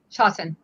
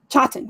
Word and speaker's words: Chawton: Chawton. Chawton.